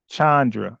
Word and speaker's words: Chandra: So I guess it's Chan, like Charles. Okay. Chandra.